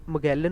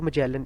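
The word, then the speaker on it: Magellan: फ्रेडिनेंट मगेलन और मजेलन, इसकी दोनों प्रोनाउंसिएशंस ठीक हैं, ठीक है, हम इसमें इसको मगेलन यूज़ करेंगे।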